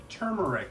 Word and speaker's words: turmeric: I forgot to put the turmeric onto the plate. Notice how there's an R in that word, but to be fair, there is an L in salmon, and we don't pronounce that.